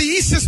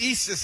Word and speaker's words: Isis: know about Francis huh in her book The Eis papers she makes it it's pronounced Isis actually okay she makes it clear in her